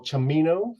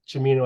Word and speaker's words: Cimino: deer hunter 1978 Michael chimino film correct yep sure how to pronounce that but looks like Simo or kimino but chimino I guess is the right way to say it um so Darren I